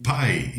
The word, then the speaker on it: pi: com uma torta ou pie em inglês, né? Pie é a pronúncia também para o número pi, que nós chamamos de número pi.